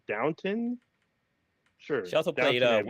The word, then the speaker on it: Downton: I remember talking to Kay because it sounded like she said downtown, and she kept going for like 2 minutes, but it's pronounced Downton.